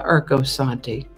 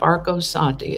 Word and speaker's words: Arcosanti: events for june 21st because i've been to erkosanti interesting project if you're ever on a road trip through arizona look up arcosanti it's spelled a-r-c-o-s-a-n-t-i i think we found it